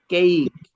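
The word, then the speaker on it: cake: যেমন দেখেন এটাকে কেক বলি আমরা। মূলত এটা কি? কেইক।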